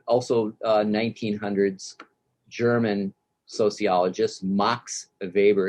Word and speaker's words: Max Weber: uh 1900's german sociologist mox of weber is how you say his name and what i what